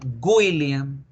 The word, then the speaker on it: William: con w cierto pero la gente en español tiende a pronunciar la w como una y una u con diéresis que son los dos puntos de arriba entonces la gente tiende a decir william incluso con n william william y así está mal no debemos pronunciar william la verdadera pronunciación de la w es una que se convierte en una o todo decir es william william william my name is william